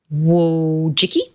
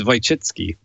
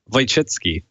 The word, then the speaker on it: Wojcicki: Whoa, Jicky? You know, it so happens, Denise, I know how to say it. How to say it? It's Wojcicki.